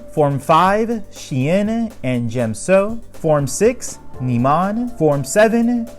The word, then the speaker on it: Djem So: form for Ataru form five she Anna and gem so form six Niemann form seven giulio and the